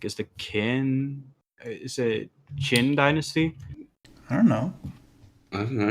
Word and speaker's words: Qin: it's pronounced Qin.